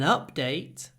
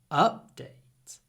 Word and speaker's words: update: an update is available update update but when it's a verb the stress is on the second Sy please update the application